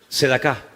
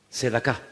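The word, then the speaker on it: צדקה: ¿Cómo se dice en hebreo limosna? Sedacá. Sedacá.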